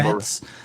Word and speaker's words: Moretz: I'm not sure how you Moretz, say her name. yeah. Moretz. Like yeah. Tourette.